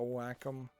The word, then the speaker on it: Wacom: be what you would want, is like a Wacom tablet. And yes, that is how you actually pronounce that word.